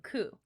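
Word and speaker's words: 九: The number 9 and the word pain also share the pronunciation ku.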